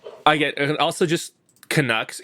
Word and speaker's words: Canucks: So I get, and also just Canucks. It's very unique in that it's like the only team where you really emphasize the second syllable.